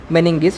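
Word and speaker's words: meninges: क्या बोलते हैं उसको, मेनिंगिस। उसका स्पेलिंग पे माइंड मत कीजिएगा, ठीक है, इसको मेनिंगिस बोलते हैं।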